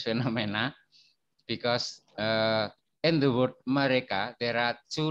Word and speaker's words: mereka: The first letter E is pronounced a, like in the word after. But the second letter E is pronounced a, like in the word say. So mereka, itu mobil mereka. Mereka. Yeah, it is pronounced as in the word say in English, say or sepak bola or say.